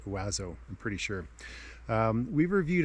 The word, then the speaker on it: OAZO: the plum oazo bindings that's o-a-z-o pronounced wazo i'm pretty sure we've